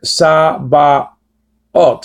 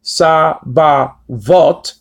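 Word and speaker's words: Sabaoth: Just like in the word sa-ba-ot. It's not pronounced sa-ba-vot or sa-ba-wot.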